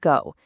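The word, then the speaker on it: 苦: In Korean, it's pronounced go, and it means painful or to suffer.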